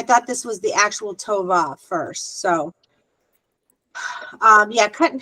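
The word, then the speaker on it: טובה: Tova. The H. It usually ends with a silent Hebrew. It usually ends with a silent yeah. Tova. Yeah, it's a silent H at the end.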